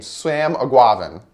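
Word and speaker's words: Eguavoen: guavian a guava yeah I looked up a video on how to say his name swam a guava that's what it is I guava with a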